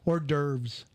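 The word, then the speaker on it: hors d'oeuvres: FIB that's stupid uh or derves it's an H did you know that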